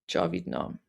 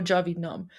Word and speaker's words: Javid-nam: It's Javid-nam. So it's similar to Javid Shah, except instead of Shah, it's Nam. Nam means name, so N-A-M. So Javid-nam.